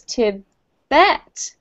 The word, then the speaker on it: Tibet: than natural um tibet we put the emphasis on the second syllable for tibet so it's to bet and when we could